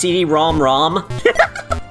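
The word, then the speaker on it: CD-ROM²: The Odyssey has a super script 2 in the name like the PC Engine CDROM squared which is pronounced CDROM ROM.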